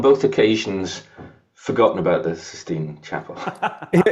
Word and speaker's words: Sistine Chapel: occasions forgotten about the Sistine Chapel. Here's one. Remember we were doing something about mispronunciations. Do you know that the amount of people that think that that's called the 16th Chapel?